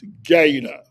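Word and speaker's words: GATA: It's g a ta and it's pronounced gada.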